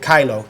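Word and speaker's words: Kyllo: A good example of that in a recent case is the Supreme Court's decision in a case called, I pronounce it Kylo, K-Y-L-L-O.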